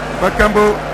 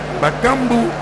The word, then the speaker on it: Bakambu: Bakambo, faut bien prononcer le nom. Bakambu.